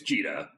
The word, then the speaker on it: Jita: Some people say Jita, some say Jita, Oh yeah. Yeah. No, it's Jita.